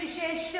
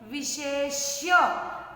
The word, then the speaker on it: विशेष्य: विशेष्य मैंने लिखा है, इसको आप विशेष नहीं बोलोगे। श षटकोण का आधा है, इसको आपको आधा श षटकोण का बोलना है। बोलो जरा मेरे साथ में, विशेष्य, आखिरी में य यति का भी बोलना है।